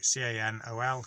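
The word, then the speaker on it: canol: i have so it's cannell i can put this on a screen because you just say it in english and you'll pronounce it properly so can ol camel or camel adrev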